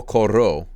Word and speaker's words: corro: Yo corro. But the stress is in the first syllable.